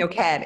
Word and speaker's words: Noked: Noked. It's Noked. It's like naked with an O. Noked. Naked with an O. The emphasis here is on the end of the word. It's like the last syllables.